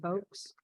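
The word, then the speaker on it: Vaux: a question about Calvert I would pronounce it Bo but you said box the Calvert Vox yeah okay um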